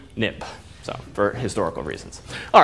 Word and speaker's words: xib: Xcode it became xib but you pronounce xib nip so for historical reasons